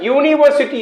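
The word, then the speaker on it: university: यूनिवर्सिटी, यू यानी vowel से शुरू हुआ है, फिर भी यहां पर उच्चारण यूनिवर्सिटी है यानी य यानी व्यंजन है, इसलिए ए का प्रयोग होगा।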